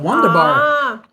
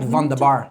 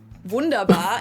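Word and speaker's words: wunderbar: The W is going to be a V, right? Vanderbar. It's not Wonderbar. It's a Why got It's not Wonderbar. It's Vunderar. Vunderar. It doesn't sound right. Vunderbar. English. People usually say Wonderbar in German. It's Vundaba. Vundabar.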